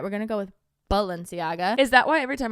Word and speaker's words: Balenciaga: I thought it was Balenciaga. Me too, but sometimes I swear I hear people say Valenciaga with like a V. But it's a B. All right, we're going to go with Balenciaga.